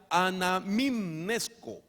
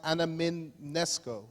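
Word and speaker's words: ἀναμιμνήσκω: Esta mente en griego se pronuncia anamimnesko. So this third mind, it's in Greek and it's pronounced anamimnesko.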